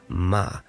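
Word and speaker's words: מה: pronoun means what okay pronounced as ma in Hebrew that same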